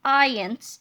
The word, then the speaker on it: iance: to skip these parts ions pronounced ian's ions is one of